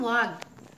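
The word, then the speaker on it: walk: सम वॉक, कुछ लोग पैदल चल रहे थे। यहाँ देखिए, वॉक L साइलेंट है।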